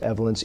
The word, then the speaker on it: Evolence: video is a new product called evence It's pronounced evence EV v o Len C it is a